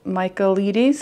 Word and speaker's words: Michaelides: The next book I read was The Maidens by Alex Michaelides, I think his name is pronounced.